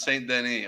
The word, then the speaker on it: Denis: s on it really there's no s s is silent if I'm not mistaken Den all right all right so it's St Denny Okay C Cha says